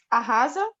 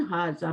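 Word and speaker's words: هٰذَا: इस तरह लिखा जाएगा हाजा, बट पढ़ा जाएगा हाजा अलिफ के साथ. हाजा जी. जाल को नरमी से हाजा. हाजा का मीनिंग क्या होता है? Ahaza?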